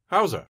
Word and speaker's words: how's the: tip in natural english how's the sounds like hauser listen how's the weather